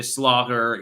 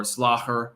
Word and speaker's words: slager: Like I know a lot of terminology, like, you know, vlees is meat, de slager is, or slager, actually. It's harder to pronounce that, like GH, like that.